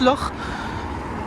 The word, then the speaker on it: Loch: Parce que oui, ça ne se prononce pas Loch, ça se prononce l'or.